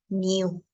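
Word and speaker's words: knew: And no changes to new. Fíjense que la K no se pronuncia en ninguno de los dos casos.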